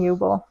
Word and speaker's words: Uebel: So yeah, it's Uebel. What's your last name? Uebel. Uebel? In German, you pronounce it Uebel, but that's a train wreck here.